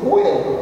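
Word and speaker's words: vuelto: Porque no espanhol o V tem som de B. Então eu pronuncio bueto, mas eu escrevo bueto.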